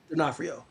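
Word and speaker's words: D'Onofrio: Denafhrio.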